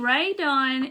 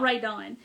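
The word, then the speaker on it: Rae Dunn: is ray done charlene ray dunn is this is not rae dawn but she makes like white pottery and it has this kind of writing on it is her name is spelled r-a-e d-u-n-n if you type that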